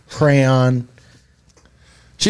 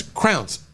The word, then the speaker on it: crayon: Yeah, they give you the CRAY part right up front. Yeah, crayfish, crayon. She was Pretty like- much established that's how you She was like, pronounce "Either it.